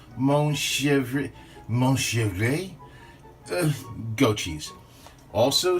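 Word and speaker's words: Montrachet: going to do some goat cheese and it's pronounced Mon mosha of a goat cheese also some dried oregano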